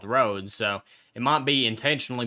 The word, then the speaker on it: Rhodes: town of our holds I I believe it's called Rhodes Mr Milo roads now don't you try and correct my their pronunciation I know how it's pronounced not stood in English I I reckon the townsfolk would have a better idea of what that there's called and they told me it was called roads so it might be